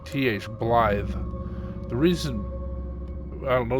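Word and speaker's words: Blaidd: um blly like th Blye the reason I don't know the reason exactly but in Welsh a DD is pronounced as a th so it's blly and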